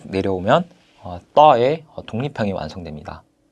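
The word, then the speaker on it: ط: 이 따라는 자음은 발음을 할 때 그냥 따가 아니라 우리가 앞 시간에 third와 third를 발음할 때 혀를 밑으로 내리고 입안에 공간을 크게 만들어준 상태에서 발음을 해야 한다고 했는데 이 따 역시 혀를 밑으로 내리고 입에 공간을 만들어준 다음에 따 이렇게 발음을 하시면 되겠습니다. 그래서 음가는 T가 있고 밑에 점을 하나 이렇게 찍어줍니다.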